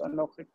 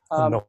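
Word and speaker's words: אָנֹכִי: in pause, it likes to flip that accent over. So instead of Ata, Anohi. This is Ata, and this is Anohi. And you can see it in this. That this right, is on this syllable, so it's Anohi.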